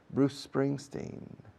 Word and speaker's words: Bruce Springsteen: No digo Bruce Spring, Bruce Spring, Bruce Spring. Digo Bruce Spring, Bruce Spring. La C de Bruce se enlaza con la S de Spring. Bruce Springsteen.